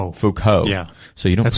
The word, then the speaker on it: Foucault: Michael, I hope I pronounce his name right, Foucault. Yeah. So you don't That's pronounce Michel T's. Foucault.